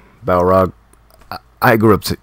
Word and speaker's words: Balrog: Alright, I'll take Barlog. Balrog. I grew up pronouncing it Barlog.